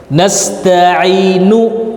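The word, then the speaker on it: نستعين: Nasta'inu, nu-nya dibaca tapi pelan dan cepat.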